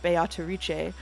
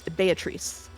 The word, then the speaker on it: Beatrice: uh actors are saying biche I will say that uh the Japanese pronunciation is based on Italian pronunciation which I checked ahead of time and is Beatrice be bee bee without the toe okay and betri but